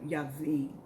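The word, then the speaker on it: Jabin: into the hands of jabbing jabbing but it's it's pronounced in the hebrew yavin um king of canaan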